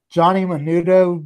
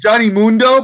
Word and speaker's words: Johnny Mundo: Johnny Menudo wedding thing. Oh God! Listen. You said it right. His name is Johnny Mundo, but call him Johnny Mundo.